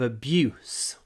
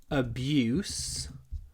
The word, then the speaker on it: abuse: When you pronounce this word abuse, make sure that the oo is really short. It's clipped before the unvoiced s at the end.